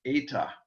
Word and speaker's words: eta: to do with n it is eta it is a vowel a long e and um sorry and